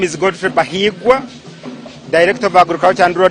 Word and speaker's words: Bahigwa: He has told me here that Bahigwa is a romantic name, so it should be pronounced with a lot of ease and not rushed.